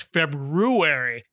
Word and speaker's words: February: good buddy hacket and he also pronounces the r in February we all know that you know we all know that February has that extra r in it nobody pronounces it my dad does does